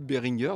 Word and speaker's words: Behringer: celui d'Antinéa qui dit Behringer c'est allemand et le G se prononce comme dans Game ou dans Crad, dans Gamme plutôt, dans Game, n'importe quoi. Bref, à mi-chemin entre le G et le K, mais pas comme Georges ou Gentil par exemple.